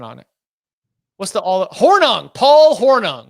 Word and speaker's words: Hornung: player Paul horning or horning sources confirm it's pronounced horning in the moment who's watching live damn I'm